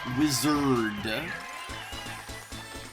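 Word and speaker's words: Wizzerd: And I said it as such because it's spelled W-I-Z-Z-E-R-D. Wizard.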